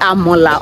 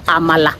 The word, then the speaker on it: amala: gonna eat Amala again is it amola or Amala is no it's called Amala really yes that's the right pronunciation so I'm going back